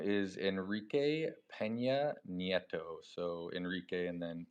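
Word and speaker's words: Enrique Peña Nieto: His name is Enrique Pena Netto.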